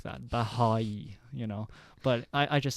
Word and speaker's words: Baháʼí: Bahá'í, But I just say Baha'i.